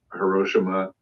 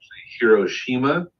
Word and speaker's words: Hiroshima: who did some amazing Hiroshima paintings, which I've called it that for years and have now found out is incorrect. Hiroshima, according to Japanese. I'm trying to unlearn my pseudo-intellectual correct pronunciation.